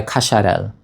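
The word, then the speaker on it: Cacharel: This is how it's actually pronounced. Anisay by Kasharel.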